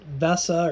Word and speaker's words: VESA: is the 100 and i believe they pronounce it vesa or visa v-e-s-e there's different sizes